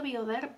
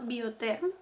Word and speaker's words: Biotherm: Yo creo que el de Biotherm, yo decía Bioderm, pero hace poco en un anuncio vi que se llama Biotherm con T, o sea, pronunciado con T, quiero decir.